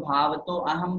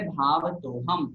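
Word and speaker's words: भावतोऽहं: बहुत से लोग भाव तो अहम बोल देते हैं, गलत हो जाएगा। जब संधि विच्छेद करेंगे तो भावतः अहम निकलेगा ऐसा, लेकिन बोलते समय भाव तो हम ऐसा ही बोलना पड़ेगा।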